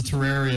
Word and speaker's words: Terraria: one time was a terraria video and let me pronounce the wrong shut up you pronounce it wrong it's terraria well I say boom